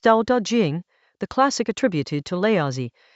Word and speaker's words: Dao De Jing: Chapter 32 of the Dao Da Jing, pronounced Da Da Jing, the classic attributed to Leazi, turns on a single problem.